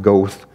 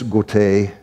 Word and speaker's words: Goethe: tend to call him Goethe. It's a German name, it's Goethe, which is even probably rough.